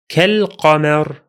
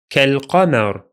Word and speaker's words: كالقمر: Second, كالقمر. كالقمر. Only the alif is silent because we are in connected speech again, while the lam is pronounced because it's lunar this time.